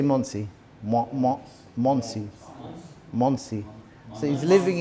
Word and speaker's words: Monsey: How do you say Monsey?